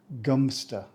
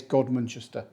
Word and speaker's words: Godmanchester: pronounced how it's spelled it's pronounced gster don't know why I guess cuz it's too long local shortened it to gster which sounds like a trendy cheerwing gam either way it's not as complicated as it looks even though some people say it's godmanchester which I don't think it is the town has Roman